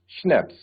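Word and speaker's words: Schnapps: इसको प्रोनाउंस भी क्या कैसे करा जाता है? शैप्स श अंड एंड देन नैप्स। शनप्स और ये होती क्या है?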